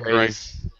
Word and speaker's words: Greiss: I think it's Greiss, like Rice-A-Roni. Greiss.